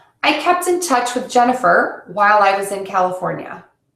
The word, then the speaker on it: Jennifer: uh sound people say gen e fur so I know that my name is spelled with an i but it's pronounced with that short uh Jennifer so to fix it